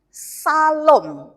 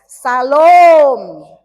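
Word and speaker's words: שלום: Mengapa O-nya harus panjang? Karena O-nya itu adalah holem homogen dan pengucapannya harus panjang. Transliterasi tulisannya O tapi pakai topi. Itu sangat berbeda dengan O yang biasa gitu. Nah, O pakai topi diucapkan panjang ya, Bapak Ibu.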